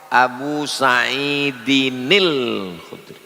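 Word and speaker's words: أبي سعيد الخدري: Kalau disambung muncul nun kecil namanya nun wiqayah Abu Saidinil Khudri. Begitu cara membacanya.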